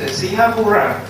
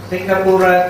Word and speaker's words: Singapura: Singapore means Singapura. Pronunciation is different. Singapura, this is a Pali term. Singapura, Lion City. Then now, according to pronunciation, it's Singapore. But you go Singapore.